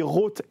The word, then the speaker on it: Rauth: Donc j'ai mis AU pour que les gens prononcent Roth.